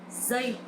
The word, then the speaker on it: giây: This sound is not like J or G sound in English, but it's similar with Z sound. Giây, Z. So you try and practice giây.